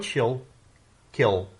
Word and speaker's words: Schuylkill: l k i l l so it's so shill kill so she'll kill notes again this is hard to pronounce unnecessarily because of the way it's spelled